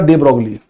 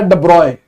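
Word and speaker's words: de Broglie: ठीक है, दे ब्रोकली का वैसे सही जो वो होता है डब्रॉय। इसका जो सही प्रोनाउंसिएशन है वो है डब्रॉय, यॉन पियरे लुई डब्रॉय।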